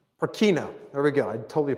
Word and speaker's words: Purkinje: So if you look at this, was named after a Dutchman named, Peter, how do you pronounce that name? Purkinje.